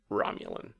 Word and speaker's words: Romulan: It's pronounced Romulan.